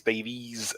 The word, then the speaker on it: Davies: that's it yeah jason davies not davis davies 71.